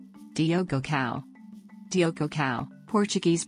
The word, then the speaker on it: Diogo Cão: Diogo cão Diogo cão Portuguese pronunciation anglicized as Diogo caman also known as